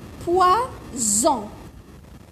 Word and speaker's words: poison: هنايا قلنا الجيران تاعو، هنايا هذا الجار تاعو ومنا الجار تاعو فويل صافي حنطقوها زا، اوكي؟ بصح هنايا الجار تاعو صح فويل ومنا فويل، بصح انا نطقتها سا.